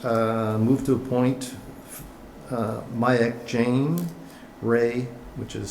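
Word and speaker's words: Rui: So it's move to appoint Mayak Jane, Ray, which is spelled R-U-I, Huang, Greg Cahoon, Greg Wright, and Paul Smith.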